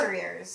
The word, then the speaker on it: destrier: was saying Des desit how do you spell it d e s t r e i r destriers destriers yeah not I after the S okay destriers anyway he